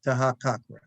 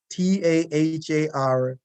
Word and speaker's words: Taharqa: the relationship that Hezekiah had with the pharaoh Tahakakra, Taharqa. It's spelled many different places, different ways, but it's the same king.